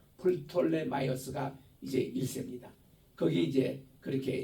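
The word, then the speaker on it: Ptolemy: 이집트가 잡고 있으면서 이때 초대 왕이 누군가니 이게 풋램이이 피가 들어갔는데 톨램이 있는데 미국근에서는 피를 무음으로 칩니다. 그래서 그냥 톨름이라 그래요. 근데 헬라반는 우리 이럴 때는 프톨이라고 읽어야 돼요. 플톨레 마이어스가 이제 일세입니다.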